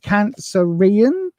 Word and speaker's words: Cancerian: So Sarah wants to know, what are the Cancerian? How do you say Cancerian? There we go. Cancer Ian. Yeah, that's good. You can tell I've been doing this for years, can't you?